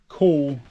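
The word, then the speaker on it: Kühl: I've got some cool KU. I'll never remember the name. Pronounce the name. KUHL. Cool.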